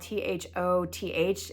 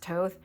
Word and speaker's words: Thoth: So on Sunday, we attended the Crew of Thoth, which is spelled Thoth. It looks like Thoth, but it's pronounced Toth.